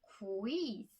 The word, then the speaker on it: quiz: Q 발음이 굉장히 신경 써야 할 발음이더라고요.